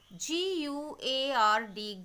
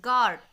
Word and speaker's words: guard: Same with the next word, Guard, guard. Here also the pronunciation of U is missing, because if I hide U, then also the pronunciation will be Gard, guard.